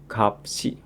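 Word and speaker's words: 값이: Dan kalau bertemu dengan huruf vokal seperti biasa maka akan dibaca kedua hurufnya. Kapsi. Kapsi.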